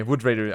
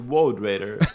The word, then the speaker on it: Woad Raider: How do you pronounce wood? By the way, Wood Raider. I always say Wood Raider and people laugh at me. Because you're saying Wood Raider, of course they're laughing. It's a Woad Raider.